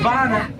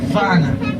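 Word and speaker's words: wana: It's called Vana. Vana is spelled with a W, pronounced like a V. Vana.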